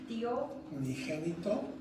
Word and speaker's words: Unigénito: Y aquel verbo fue hecho carne y habitó entre nosotros y vimos su gloria como de unigénito, Unigénito.